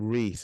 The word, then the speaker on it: Reise: thank you so much you're pronouncing Reese isn't it yeah but thank you so